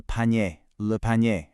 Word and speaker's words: panier: So we have le fer, which means iron, and then le panier, a basket. That A sound at the end is exactly what you're listening for.